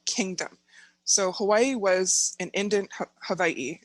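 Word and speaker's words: Hawaiʻi: So Hawaii was an Hawaii is the proper name, the way to pronounce it.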